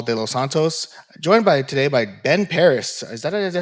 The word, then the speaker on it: Ben Parris: I'm Paul Delos Santos, joined today by Ben Parris.